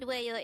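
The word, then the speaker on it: 왜요: This is pronounced as a two-syllable word. The first syllable is we and the second syllable is yo. Pronounce it with me. Well. Well. The word weyo is the counterpart of why in English.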